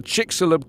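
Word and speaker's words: Chicxulub: looking up here we go it's called the chixolub crater it's yeah utica that's right oh you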